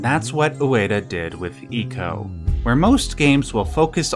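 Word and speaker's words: ICO: influence that game is IO and every yes I know it's pronounced Eco I was just trying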